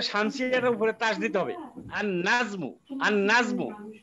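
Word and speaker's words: النجمُ: উপরে তাস দিতে হবে আন নাজমু আন নাজমু এখন লামের উচ্চারণ হচ্ছে না আন নাজমু আর শেষে তো মারেফা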